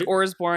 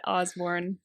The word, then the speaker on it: Orsborn: And you have to pronounce your It's Orsborn. Orsborn, because I heard you say this the other day on something online. I was like, Yep. I'm saying it wrong. I felt Not bad. Osborne. Yeah. Orsborn.